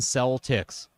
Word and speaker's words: Celtics: And not even pronounced like Celtic. Correct. Yeah. The the Boston cell ticks.